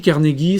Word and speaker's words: Carnegie: Alors, est-ce que c'est Carnegie? Carnegie, c'est Carnegie. On a vérifié dans notre petit Larousse de la prononciation.